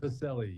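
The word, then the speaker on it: Pacelle: Is it Pacelli or Pacell? I just want to make sure I get that right. Pacelli. You got it right the first time.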